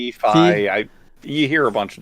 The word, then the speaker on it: Fi: To your point about, is it Faye in Skyward Sword? Fi.